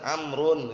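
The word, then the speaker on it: عمرو: Ya, sekarang antum perhatikan, Amr dan Umar, nampak nggak perbedaannya? Nampak ada wawunya. Ada wawunya nggak mungkin antum baca Umarmu, nggak ada kan? Umarmu gitu. Kalau ada wawu pasti Amr bacanya, Amrun gitu, pasti itu udah.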